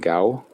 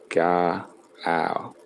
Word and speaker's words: Gao: Next chapter, getting better, Boulder bash, lightning bolt, Gutava, and Gao. It's actually pronounced Ga a o.